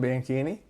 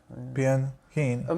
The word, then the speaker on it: Bianchini: No, yeah, it's CH in Italian. It's supposed to be a K pronunciation.